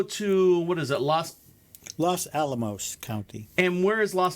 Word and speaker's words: Los Alamos: ranges los ama almost is that how do you say that las alamos las alamos is that right yeah los alamos county county ranked monk